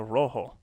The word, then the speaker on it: rojo: But why don't you like fully roll on rojo? Rojo. It's not rojo. Rojo. You Yes, do! it is. If you are Spanish, you roll your R's.